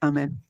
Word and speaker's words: Ahmed: there's a tendency to, at first I started pronouncing that as though it was Arabic. It's not Arabic, so it's just Ahmed.